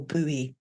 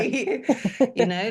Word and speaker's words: buoy: visualizing literally losing grip of the boy or buoy, whoever pronounces it that, but I pronounce it Yeah. boy.